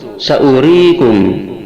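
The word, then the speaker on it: سأوريكم: Yang ke-21, saurikum, surat Al-A'raf ayat 145, hamzahnya pendek.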